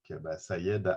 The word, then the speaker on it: Saeid: Je le prononce bien, hein, Sayed, c'est correct?